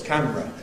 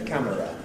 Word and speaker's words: camera: I learned the word camera in its compressed form. 2 syllables, camera. 100 years ago it was certainly camera.